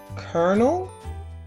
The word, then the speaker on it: colonel: Exactly where is the R in colonial? Why should we say colonel when there's no R?